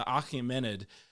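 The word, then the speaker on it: Achaemenid: are in the region it's also called the akhmanid right right or akamenid there we go i'll say it right in a minute the achimenid empire and it's also just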